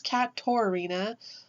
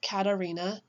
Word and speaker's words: Katorina: So my name is Katarina, and it's Katorina, not Katarina. So the O.